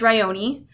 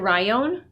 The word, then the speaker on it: Rioni: fantasy Romance the main character's name is Rioni it's pronounced Rioni but a lot of people pronounce it Ryon and that's fine I gave her